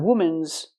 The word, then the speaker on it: women: three three women not women's it's women use the short I sound for both syllables I like this is